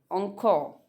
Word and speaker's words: encore: Another word is encore. Basically इसका जो pronunciation है वो कुछ इस तरीके से होता है, जहाँ पे आर साइलेंट होता है, encore।